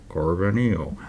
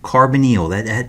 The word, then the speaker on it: carbonyl: Carbonyl. Okay, carbonyl. It's a long E in that YL.